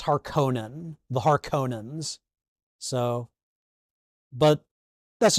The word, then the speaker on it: Harkonnen: I don't like the pronunciation of the last name Harkonnen. To me, it's Harkonnen, the Harkonnens.